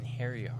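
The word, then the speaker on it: Einherjar: So I like when I hear Inheriar, what I actually hear is like in hairy arm.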